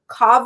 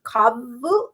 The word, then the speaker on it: Kavu: heard of this brand it's kavu or kabu i feel like that's the only way i would say kavu how do you spell